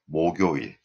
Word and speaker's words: 목요일: Thursday, 목요일. 목요일, because 목 has 받침, the 그 goes up, so the correct pronunciation is 목요일, 목요일.